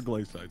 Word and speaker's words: glacite: oh oh glite glite I'm pretty sure glacite is right I hope it is